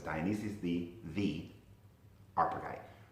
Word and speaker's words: Dionysius the Areopagite: Like I said, Dionysius the Areopagite, I keep saying that name wrong, but it's Dionysius the Areopagite.